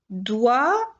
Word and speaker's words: doigt: Vous avez doux qui s'écrit avec un X, blanc qui s'écrit avec un C, corps qui s'écrit avec PS, doigt qui s'écrit avec GT et temps qui s'écrit avec PS.